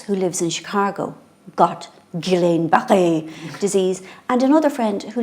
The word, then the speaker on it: Guillain-Barré: I pronounce it Guillain-Barré disease, but but it's French, so I think we should be going Guillain-Barré.